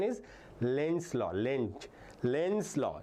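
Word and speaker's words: Lenz: Sometimes you call lenes law which is not proper pronunciation. pronunciation is lens law. Lent lens law it's a German name lens law.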